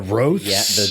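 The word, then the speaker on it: rothé: A hold over from the Is it a ro? Is that how you say it? Yeah, that's how they say it in Boulders's Gate at least.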